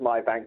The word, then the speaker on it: MyBnk: This was back in the beginnings of tech language, so they chose the MyBnk as it's pronounced MyBank, but without the A, because they thought it was cool.